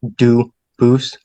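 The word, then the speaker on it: Dubois: They do pronounce it dubis, but you said you pronounce it dub as the original. Duboose as the original French.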